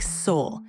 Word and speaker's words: Sol: Or you say soul or Saul, or how do you say your name? I say it like soul.